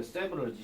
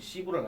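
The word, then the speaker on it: several: 여러분 이 단어 발음하실 때 항상 조심하셔야 돼. 세브럴지 시브럴 아닙니다.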